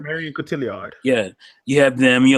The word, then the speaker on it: Marion Cotillard: Marion Cotillard. Marion Cotillard.